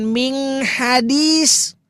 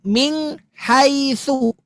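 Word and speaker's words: مِنْ حَيْثُ: Terus yang ini juga sama, Min nun sukun ketemu ha bukan min hadis tetapi ming haitsu. Ah ming eh ming haitsu. Min haitsu. Makai min haitsu.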